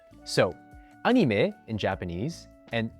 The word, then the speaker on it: anime: example of this is the word anime, which as you can hear again, has a diphthong at the very end when pronounced in English, anime, while in French and Japanese, they sound almost the exact same.